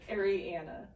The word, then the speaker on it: Ariana: mispronounced constantly i know ariana ariana yeah ariana's okay ariana's okay adriana's kind of there's no d name that doesn't mean